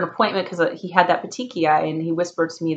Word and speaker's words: petechiae: He has something, it's called petechiae. It's not how it's spelled. It's like Pitachi, something like that.